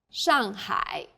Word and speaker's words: Shanghai: a word in pinyon the pronunciation for the famous city shanghai is shanghai the first syllable here is made of an initial and a final and a fourth falling tone the second syllable is made of an initial and a final i and a third falling then rising tone hi shanghai well done